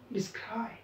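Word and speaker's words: describe: तर डिसला छोटं म्हणा, क्राईबला मोठं म्हणा, डिस्क्राईब।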